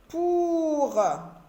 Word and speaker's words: pour: Pour. Dans OU, j'écris U, mais je ne le prononce pas.